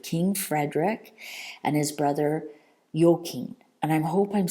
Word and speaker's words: Joachim: Frederick and his brother yokin and I'm hope I'm saying that correctly um I'm saying it based on um the Danish Dutch Scandinavian where J is y so yokin yoken yoken I believe they